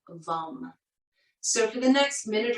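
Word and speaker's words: vam: energy center is vum v-a-m but the a is pronounced like a short you vom so for the next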